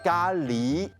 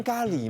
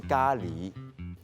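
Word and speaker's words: 咖喱: 咖喱。哇，我今天也是吓到，说，哎，不是念咖喱吗？原来正确的发音是咖喱。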